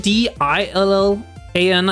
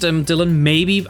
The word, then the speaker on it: Dillan: It's spelled D-I-L-L-A-N, and I believe it's still pronounced Dillan the same way as D-Y would be.